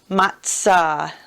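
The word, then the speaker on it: מצה: the man praying and it's matah almost like we would say pizza all right ma interesting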